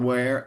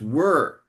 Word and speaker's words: were: And it's not where, it's were.